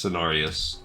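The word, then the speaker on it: Cenarius: So, basically he is the son of it is it does say it's Sinarius. It tells you the pronunciation right there.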